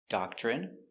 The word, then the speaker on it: doctrine: So, all of these words are pronounced with the in sound for the i n e. turban adrenaline heroin doctrine determine and urine Let's practice.